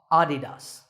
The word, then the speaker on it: adidas: a German businessman so the correct pronunciation is with the stress on the first syllable ah adidas number 8 is the